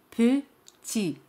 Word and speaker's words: petit: La palabra petit significa pequeño. Petit. T al final es muda, no se pronuncia.